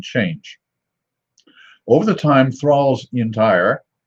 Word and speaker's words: Intire: It says that it's a strong porter called Thrale's Intire, I-N-T-I-R-E, pronounced Intire.